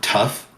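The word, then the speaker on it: tuff: imagine it's not t-u-f-f it is t-u-f-f that's how you spell it so like when you say that something is tough it's like you're saying it's that rock it's like well normally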